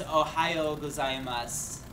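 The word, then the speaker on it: おはようございます: this this one is Ohio gas you don't you don't pronounce the you at that so it's just MOS sometimes they do in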